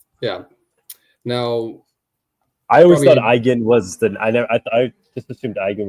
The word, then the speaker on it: Eigen: The German word Eigen is pronounced as the I. The I is pronounced like the English word I. The G is a hard G sound, similar to the G in go. The EN at the end is pronounced softly, almost like a nasal sound.